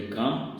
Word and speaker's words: calm: ऐसे ही काम, CALM, काम, काम मीन्स होता है शांत, तो इसमें L साइलेंट। लेकिन ये जो शब्द हैं